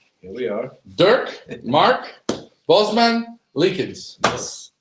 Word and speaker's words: Bosmans-Leekens: here we are here we are Durk Mark Bosman leans yes pronounced it right correct 100% 100% you guys